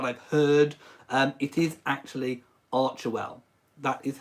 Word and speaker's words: Archewell: It is pronounced ARCHEWELL. So it's not ARCHEWELL, it's not ARCHEWELL, it's not all the other different variations that I've heard. It is actually ARCHEWELL.